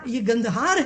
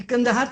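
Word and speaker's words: कंधार: ये गंदहार है, ये कंदहार तो मिस प्रोनाउंसिएशन है।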